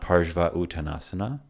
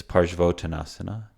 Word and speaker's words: Parshvottanasana: Together they make an O. So this is not Parshva Uttanasana, it's Parshvottanasana. Much like Om is Om, not Aum.